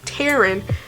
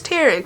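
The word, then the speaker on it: Tairn: what happened cat tearing I think it's Taryn t-a-i-r-n parents but honey so again technically in the book I'm gonna pay I'm on chapter 21 on page 249.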